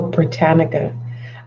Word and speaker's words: Britannica: How to pronounce? Let me see. Oh, Britannica.